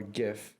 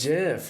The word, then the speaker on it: GIF: GIF. Okay. Yes. It's a soft G.